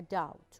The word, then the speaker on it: doubt: P here is silent we don't pronounce the B we say without a doubt okay without a doubt